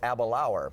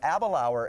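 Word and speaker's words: Aberlour: be sampling tonight is a Balaur and it rhymes with happy hour yes it totally mispronounced but a Balaur is what we call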